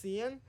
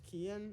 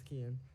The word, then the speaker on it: Kian: I used to think it was Cian, but then I heard one person pronounce their name as Kian who had that name, and I was like, okay, it's Kian.